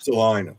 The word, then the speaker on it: Salina: Salina, Kansas. Salina. Salena, Kansas. It rhymes. It rhymes with vagina.